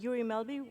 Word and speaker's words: Guri Melby: But I will, however, start with Guri Melby, which is a party leader of Venstre, Norway. Am I pronouncing it right?